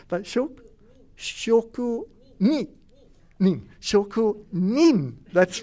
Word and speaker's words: shokunin: And that word is shokukin. Shokukin is often, and sorry for my terrible pronunciation, but shokunin.